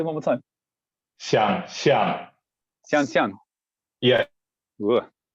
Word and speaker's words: 想象: Wayne, for my ongoing Chinese study, is this pronounced xiaozhou? 想象. Oh, completely different. Can you say one more time? 想象.